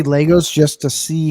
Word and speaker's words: Lego: See, Lego is now or is a plural and singular. It's not Yes. Legos, it's Lego. So I want to thank See, everyone.